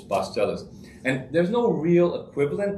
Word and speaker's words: pasteles: you spell that p-a-s-t-e-l-e-s three star syllables bus tellers and there's no real